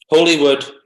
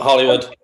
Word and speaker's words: Holywood: Holywood, not Hollywood. Holywood. There's one L.